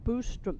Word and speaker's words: Boström: who is Swedish, that we are pronouncing Martin's last name incorrectly. So and it you should know be how I am. Boström. Boostrom. Boo. Not Ba. Not Boo. Bostrom.